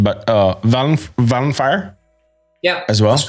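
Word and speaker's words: Vallenfyre: I always fuck up this pronunciation, but Valenfire, yeah, as well.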